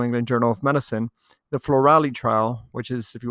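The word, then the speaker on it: FLORALI: before the new england journal of medicine the floralee trial which is if you want to google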